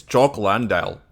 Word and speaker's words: Jock Landale: It's Jock Landale. That's basically how you pronounce it.